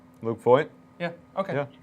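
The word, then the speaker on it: Luke Voit: He pronounced his name right? Luke Voigt? Luke Voigt?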